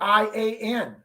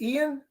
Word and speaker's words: Ian: Both spell their name I-A-N. One is Ian, one is Ian.